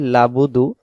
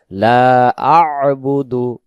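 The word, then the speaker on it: لَا أَعْبُدُ: আবুদু লাবুদু অনেকে বলি লাবুদু তখন হবে লাম জবর লা বা পেশবু দাল পেশ দু লাবুদু তখন এই আইন অক্ষরটা এখানে ছুটে চলে যাবে এখানে উচ্চারণ হবে লা আবুদু লা আবুদু লা আবুদু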